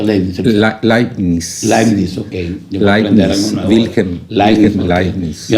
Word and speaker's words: Leibniz: ¿Cómo se pronuncia Leibniz? Leibniz, ok.